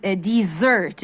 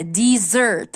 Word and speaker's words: dessert: راس محمد quickly amazing dessert. دي بتتنطق كده dessert غير التانية desert. دي dessert.